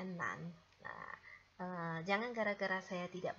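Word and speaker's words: 男: Ini bacanya adalah nan.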